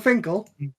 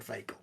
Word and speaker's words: Finkel: I'm just saying it's Howard Finkel, not Howard Fakel.